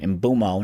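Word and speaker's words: Mbeumo: Kuna tomb or embumo. I gota I gotta rewire my brain to call him the right name. Imbumo, not ino.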